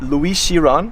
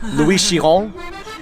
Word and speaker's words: Louis Chiron: So Louis Chiron, I didn't pronounce that perfectly. It's Louis Chiron.